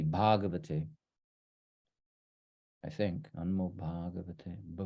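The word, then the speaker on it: भगवते: That should be a long A there. It's a typo. It should be Bhagavate.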